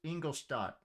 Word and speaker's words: Ingolstadt: He goes to Ingolstadt, which is how it's pronounced. Okay? The freaking narrator of this one is just doing the English version of the pronunciation. But it's a German word. It's Ingolstadt.